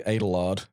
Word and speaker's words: Adelard: Well, his name is specifically Adelard. I thought to rhyme with gaytard.